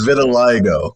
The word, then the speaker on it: vitiligo: It's vitiligo. I think is an all-inclusive resort in Cancun. It's not vitiligo. It's vitiligo. There's a whole other vowel in it.